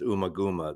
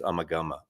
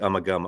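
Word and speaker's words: Ummagumma: I used to always my historic uh pronunciation is Umaguma. That album apparently it's Umagama. Okay, give me a break. Call it Uma. I did too. But anyways, it's supposed to be Umagama.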